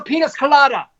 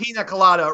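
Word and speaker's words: piña colada: Ziggy, fix me another penis colada. Yeah. That's pina colada. It's pronounced pina colada, Roy Horny.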